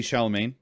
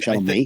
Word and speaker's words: Chalamet: Timothy Chalamet. Chalamet. Is that how you say it? Chalamet.